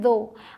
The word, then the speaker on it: though: आगे THOUGH, इसे बोलते हैं दो। अब यहाँ OUGH की जो प्रोनाउंसिएशन है वो है ओ, TH द और OUGH ओ, दो।